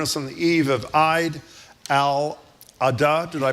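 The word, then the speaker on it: al-Adha: Heling from Jerusalem, join us on the eve of Al Adah. Did I pronounce Alad?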